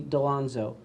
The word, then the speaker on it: D'Alonzo: Delonzo. My last name is spelled D'*A'*L'*O''N''Z''O.